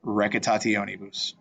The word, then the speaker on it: recitationibus: This one is to kind of remember every syllable gets pronounced. So take a second, break this one down and see how you can put it together. Remember, all the C's are hard, and TIO is they're pronounced separately. It's not sh. It doesn't make a shun sound like it does in English.